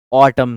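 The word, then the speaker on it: autumn: तो इसमें N silent होता है। ए यू टी यू एम एन ऑटम season N silent होता है। एन को नहीं पढ़ते।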